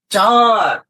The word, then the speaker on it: চাঁদ: একটু উচ্চারণ করো তো যখন আমরা চাঁদ উচ্চারণ করি চাঁদ তারপর পাঁচ যখন উচ্চারণ করি পাঁচ কিছুটা বাতাস নাক দিয়েও কিন্তু তাই না?